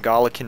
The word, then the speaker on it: Galician: Yeah, it's a soft C. Okay, yeah, I've always called it Galician Rhea, and that's just